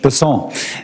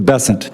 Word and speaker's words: Bessent: Bessent, I'm always going to pronounce your name as if it was in South Louisiana, and I'm going to pronounce it with a French Bessent as opposed to Bessent. That's what those folks in South Carolina do.